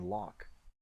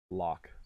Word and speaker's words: lock: Is there any pronunciation difference between luck and lock? Yes. Definitely is. Luck, lock, luck, lock. I guess it does sound somewhat similar.